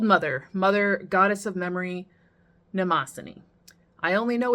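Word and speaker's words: Mnemosyne: And last but not least, good old mother, mother goddess of memory, Namosin. I only know it's pronounced Namosin because of the pronunciation guide.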